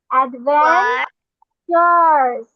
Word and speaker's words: adventures: Ad, AD, ad, VAN, van, TURES, এটাকে আমরা tourist, এটাকে আমরা টার, কিছুই পড়বো না, এটাকে আমরা বলবো চার্স। অ্যাডভেঞ্চার্স, কি পড়বো আমরা?